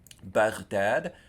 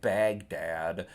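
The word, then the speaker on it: Baghdad: fatya a smart gal bdad because it's the name of a city it's a proper name and it's not Bagdad like you'll hear in English but bad with the accent on the second syllable and then it's a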